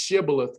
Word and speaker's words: Shibboleth: And it's actually pronounced Shibboleth, by the way.